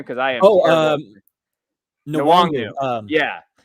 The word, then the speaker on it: Nwangwu: Nwangwu. Yeah. Nwangu. I think Nwangu, right?